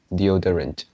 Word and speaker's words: deodorant: pronounce something like deodorant deodorant the older yeah i still think the the stress should be heavier so it's on the second deodorant the order yeah